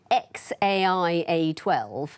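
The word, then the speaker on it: X Æ A-12: said i don't agree she says it's xaia12 and he says no the second character is pronounced ash that would be x-a-12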